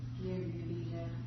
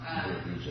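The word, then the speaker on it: nirbīja: Nirvija. How do you say it? Nirvija? Nirvija. Is that good with it too? Excuse me? Is it nirvija? Oh, nirbijasya means of nirbija. Okay.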